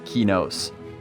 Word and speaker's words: Qeynos: McQuaid and Steve Clover they both say that it is kinos that makes sense to me my fiance says kanos but I say kinos